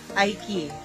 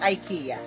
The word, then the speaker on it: IKEA: mall yata or sa ikik so that'sike guys so ang pronounce dito sa Oman ng IKEA is ik sa Philippines is IKEA ayun so let's go.